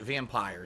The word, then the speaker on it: Vampyr: to pronounce this game I thought it was vampyre because there's no II at the end to make it off what do they call it too strong or hard why but people are telling me the game devs have pronounced that vampire so anyway even if